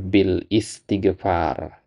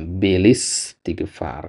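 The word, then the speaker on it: بالاستغفار: Orang banyak baca bil istigfar kurang pas bukan bil is ya. Yang benar adalah bilis ya. Bilis istigfar karena hamzah wasal.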